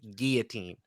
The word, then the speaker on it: guillotine: It's like like Gee, like a French name. Guillotine.